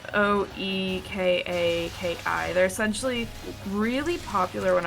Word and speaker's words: Oekaki: Any of y'all remember Okaki arts? I can never know how to pronounce that. Never heard of it. It's Oekaki.